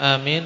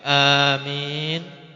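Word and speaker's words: آمين: Win maka disunahkan untuk membaca Amin dengan dua lughahnya Lughah dengan memanjangkan A jadi Amin dan memendekkan Amin Adapun tentang mimnya maka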